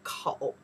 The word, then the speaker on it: 口: This character we pronounce the kou.